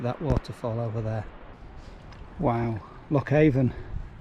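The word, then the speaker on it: Loch Avon: waterfall over there wow lockhaven oh i think it's pronounced locker name fantastic now there's supposed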